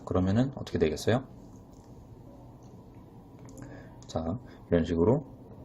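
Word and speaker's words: زاي: 특히 자이 발음을 하실 때에는 살짝 모래로 사포를 긁는 느낌으로 즈 발음을 해주시면 돼요. 그래서 자이 라고 해주면 됩니다.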